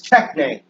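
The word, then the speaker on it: τέχνη: The word craft in the ancient Greek is techne. Techne, where the E is a long E. It's actually a long A sound.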